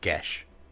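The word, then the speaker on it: geas: you are wrong here gash not Keys G's gas any of those it's gesh that is 100 correct I've been the old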